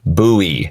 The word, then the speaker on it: Bowie: as resin and James or Jim Buy's name buoy is the correct pronunciation of the knife now let's move on